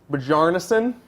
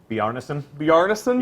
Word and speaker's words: Bjarnason: Brandon Bjarnason. Bjarnason? Yeah, it's like Gallarhorn. The J Okay. is silent. Okay.